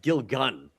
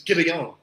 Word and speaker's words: Gilligan: I always heard people say Vince Gilgun about this guy. It's Gilligan. Maybe it's just the way they pronounce it.